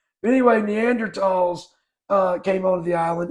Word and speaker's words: Neanderthals: neanderthals neanderthals um neander neander TOS that's what some people say is that like old people I know I think that's just how you're supposed to pronounce it anyway neander TOS uh came on the